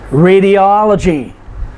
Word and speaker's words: radiology: Radiology is 5 syllables, but the third to the last syllable is the O-L, all, and so we put the emphasis there.